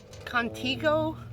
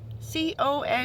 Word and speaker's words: Contigo: Contigo? C-O-N-T-I-G-O.